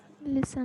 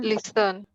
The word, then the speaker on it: listen: Listen. Listen. Listen. Listen. Which letter is silent? T. T. Is silent.